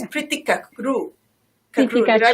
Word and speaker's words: Kachroo: Yes, it's Preeti Kachroo. Preeti Did I pronounce it? Kachroo. See? Yes, I'm Kachroo.